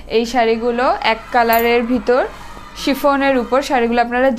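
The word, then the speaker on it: chiffon: আমার নামেও শাড়ি হয়, অ্যাকচুয়ালি এটার উচ্চারণ হবে শিফন, কালারটা জাস্ট ওয়াও।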